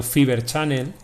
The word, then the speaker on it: Fibre Channel: Y luego tenemos los otros tipos de redes también de almacenamiento, que este es más sofisticado todavía, que es el Fibre Channel, pronunciado Fiber Channel, FC.